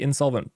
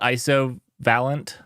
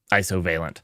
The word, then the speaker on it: Isovalent: It's Insolvent. Oh no, there's no in. It's is solvent. Is solvent. Yeah. You call it isovalent? Is that how you pronounce it? Isovalent? I never knew. I've never talked to somebody from them. Isovalent? I don't know why I put the in there. Isovalent.